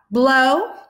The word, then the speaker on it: blow: In the vowel team O-W, the O is long and the W is silent. We have blow, grow, and snow.